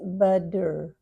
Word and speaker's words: butter: The double T often, when it's between two vibrating sounds, we change to D. So we pronounce it butter, butter on top.